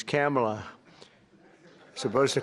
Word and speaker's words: Kamala: It's Cam, right? Cam, as opposed to Calm.